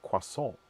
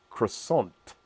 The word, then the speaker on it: croissant: just lazy talkers so we tend not to pronounce things correctly like for instance our word for a quasa is a croissant uh why did this